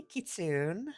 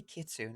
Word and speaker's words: Kitsune: Hi, Kitsune. Hi, Sinblade. Nice to see you. Why did I say Kitsune?